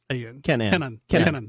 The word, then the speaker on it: Kenon: me out say pinon Kenan Kenan yeah like Kin Kin yeah probably a.m. and yeah phonetically probably can Kenan people have trouble with